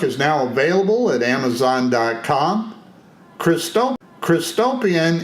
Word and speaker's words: Christopian: Christopian is spelled Christ, as in Jesus Christ, and opian is spelled O, P as in Paul, I-A-N, as in Nancy. And that's as in utopian.